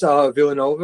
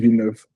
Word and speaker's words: Villeneuve: Oh, For Dennis Villanova or how you pronounce his last name? Denis Villeneuve.